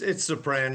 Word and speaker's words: Supran: It's sopran like soprano with no O.